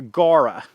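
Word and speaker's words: Gaura: Now these are Gara, like rhymes with the girl named Laura.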